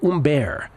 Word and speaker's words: Humbert: side Artur feasts against Ugo umber or spelled Phils fils and Humbert for those needing a phonetic pronunciation so you can find